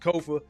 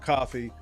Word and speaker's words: Kofa: Once again, I am your humble host, Kofa, K-O-F-A, not coffee, not, not Kofi, or any variation thereof. Kofa rhymes with sofa, easy to say, easy to spell.